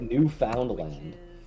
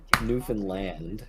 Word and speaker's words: Newfoundland: something weird, call it new found land. Don't call it Newfanland. Call it New Foundland Land. You have to you have to like pronounce that with your whole mouth.